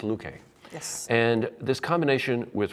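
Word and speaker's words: Loueke: here in the pronunciation I think it's Luke a yes and this combination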